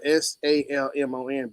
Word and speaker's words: salmon: the word sounds salmon the silent l in the word salmon so salmon see I'm